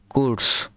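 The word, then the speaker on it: kurz: কুদস কস কস কুরস এটা হচ্ছে কস লাস্টে ছ উচ্চারণ হবে ছাতার ছ কস মানে সংক্ষিপ্ত তারপরে লাংসাম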